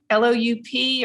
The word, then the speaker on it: loup: So you wouldn't pronounce the P. It's just loup.